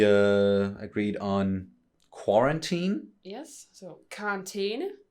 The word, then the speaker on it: karantæne: That's, you know, the pronunciation of that letter is E, karantæne.